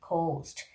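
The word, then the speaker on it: ghost: Another word like host, you know, the H, when H position is just before the G letter, that time also H is silent, like host, G-H-O-S-T, host.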